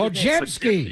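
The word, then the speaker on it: Podziemski: So SKI, pronounce it. Podjemski.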